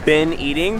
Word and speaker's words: Bean Eating: All right, so first meal of the second day, we're at a place called Bin Eating, but it's spelled bean eating.